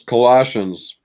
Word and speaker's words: Colossians: a big Coliseum in Colossians and colassi it's Colossians Colossians y I know that much but that's